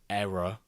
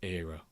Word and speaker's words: era: That it's pronounced error, not era.